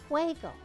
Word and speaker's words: juego: Now there's a word that comes from jugar, to play, and it is juego.